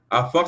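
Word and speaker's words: עפר: Parce qu'ici, on a le volume pour dire la voix, comment on prononce, c'est Afar. Donc, Afar, ça veut dire terre sèche, poussière, poudre, terre, sol, mortier, rebut, etc.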